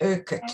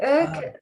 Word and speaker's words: Urquhart: It's actually Scottish, Urquhart. Oh, Urquhart. Urquhart, yeah. Urquhart Ah, Castle is on Loch Ness in Scotland, and I still struggle to really, you need a Scottish accent to say it properly.